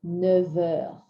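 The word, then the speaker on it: neuf heures: v sound so we say never for nine o'clock never you won't hear an f so when you read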